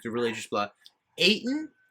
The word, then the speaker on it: Ayton: like the religious blood ayton rhymes with satan so they're not signing